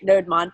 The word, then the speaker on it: Nodemon: All right, Nodemon. I mean, to me, it looks like a combination between Node and Daemon.